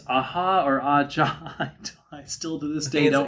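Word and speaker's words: Aja: Steely Dan with it's Aha or a John. I still to this day don't know. As a Jesus Christ, I've been saying it wrong these years. No wonder I have no friends. Asia.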